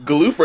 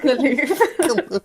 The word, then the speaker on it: Galuf: I called him Galuf. That's how I've always pronounced it. I call him Galuf. Galuf. Galuf. Yeah, not Galoof.